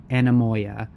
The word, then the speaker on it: anemoia: Yes, I'm sorry that I didn't pronounce it earlier correctly. Anemoia, that's how it is.